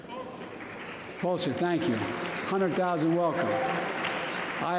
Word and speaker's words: fáilte: Fulci, thank you.